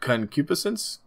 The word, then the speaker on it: concupiscence: Concupiscence, I think is how you pronounce it.